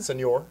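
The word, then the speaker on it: Señor: You said senior, like a citizen.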